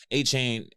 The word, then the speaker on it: Achane: I mean, Achane, is it Achane or Achan? I believe it's Achan. Achan. Is there an E at the end of it?